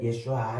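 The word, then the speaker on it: ישוע: 구원자를 말할 때 예슈아 이렇게 말하는데 예수 예수라는 말 그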